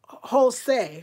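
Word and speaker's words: José: yukue Abby says Lisa remember the letter J in Spanish we pronounced like H thank you so like Jose right or hey soos is that right like that for example of the J being pronounced like an H thank you I'm gonna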